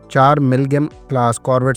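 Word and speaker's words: MİLGEM: ख्याल रहे कि मिल्गम दरअसल तुर्क जबान में नेशनल शिप को कहते हैं। गो के इस वर्ड को तुर्किया से बाहर मिल्जियम भी प्रोनाउंस किया जाता है।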